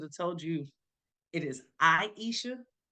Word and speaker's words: Aisha: I Um, guess I probably should have told you it is Aisha.